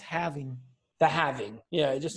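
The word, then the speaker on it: halving: to say it it's so it's it's actually pronounced having the having yeah it just sounds I like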